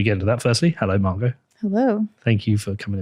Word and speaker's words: Margot: But the T is silent for me.